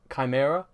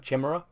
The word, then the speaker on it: chimera: It's I used to have that with Chimera. Yeah, I used to pronounce that Chimera because I'd only ever read it.